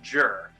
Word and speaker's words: Gyr: we got i've i looked it up it's pronounced jur the knight g-y-r as i was saying well